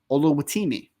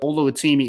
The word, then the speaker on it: Oluwatimi: I'm just going to call him Olu because I think I just butchered his first name terribly, but Oluwatimi is how you pronounce the last name. So at least I got the last name right.